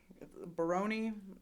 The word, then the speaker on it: Barone: there was I was told from the beginning Baroni and there has never been any mispronunciation on my part gotcha but he doesn't